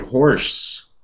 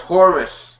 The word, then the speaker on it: Horus: us to see maybe horse they who is that how you say it horse not horse horus the eyes of forest